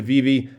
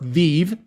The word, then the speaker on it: VeVe: VeVe is a mobile and for those of you who want to tell me that it's pronounced VeVe, you can pronounce it however you want to, but you notice both the V's are capitalized, so it's VeVe.